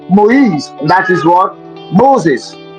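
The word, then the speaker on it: Moïse: Now that same spelling of mo with the I with two dots on top changes and becomes what? Moise.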